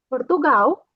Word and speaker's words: Portugal: Portugal, uhum, temos uma L no final, então vai ser como uma U.